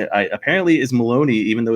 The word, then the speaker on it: Malowany: print of pronounced Maloney though I it is pronounced Maloney yep so how is how was the weather